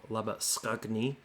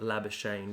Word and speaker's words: Labuschagne: qriket captain videos before i do refer to him as his afrikaans pronunciation of lover skugne instead of la bashane which is the lazy australian way of saying his name white's doing a good